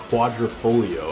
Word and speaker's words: Quadrifoglio: It's actually called a Giulia, and it's one of their highest end models, the Quadrifoglio, I believe is how you pronounce it.